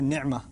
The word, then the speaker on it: نعمہ: لفظ ہے، اصل میں عربی کا لفظ ہے نعمہ۔ نعمہ عین کو میں ذرا زور سے اس لیے پڑھتا ہوں کیونکہ میں عربی پڑھتا رہا ہوں اور پڑھاتا رہا ہوں، تو مجھے اردو کے تلفظ سے ذرا الرجک ریاکشن ہوتا ہے، تو میں نعمہ ہی کہتا ہوں۔ ہمارے ہاں مجھے